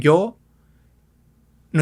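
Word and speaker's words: よん: El sonido es como una I, muy ligero. Ya, yu, yo. Nuestro ejemplo, yon, 4. Lo pronunciaríamos como yon.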